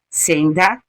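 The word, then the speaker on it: Sendha: O sal, especialmente o sal marinho ou sal gema, senda, se escreve S-E-N-D-H-A, para quem quiser pesquisar, tá?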